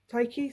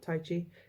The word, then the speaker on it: Taiki: This is Taiki, sorry, not Tai Chi.